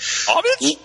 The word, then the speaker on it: homage: to pay him homage cuz the H is silent right homage yeah drunk yeah when